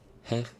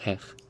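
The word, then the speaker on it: hej: Poland I don't know Hank hey is hello in Swedish but it's pronounced hey I'm pretty sure oh it's not heck its hey hey hey hey hopefully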